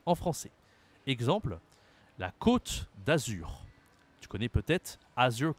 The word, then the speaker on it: côte: ha accent circonflexe et bien ça change la prononciation en français exemple la Côte d'Azur tu connais peut-être azur Coast la Côte